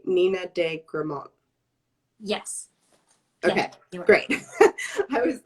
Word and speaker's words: Nina de Gramont: we spoke this morning am i pronouncing your name correct when i say nina de gramon yes okay great i